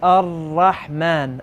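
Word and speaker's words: الرحمن: the Arabic language also, we don't have the rolling R's. You don't hear, you're not a motorboat. You're not going to say Ar. Okay? It's Ar-Rahman. Ar is barely enough air to go past your tongue and the top part of your mouth.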